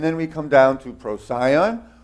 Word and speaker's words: Procyon: we come down to procyon or procyon some pronounce it procyon is the little dog